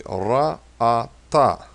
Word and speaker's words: ra'ata: Now here's a little tricky one. We have 3 syllables in this one. It's going to be ra'ata. So every vowel is a syllable.